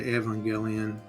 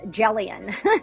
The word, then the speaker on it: Evangelion: Um I think usually I think we would usually say Evangelion. Evangelion. Yeah, that sounds right. But Evangelion. Evang long as you spell it right.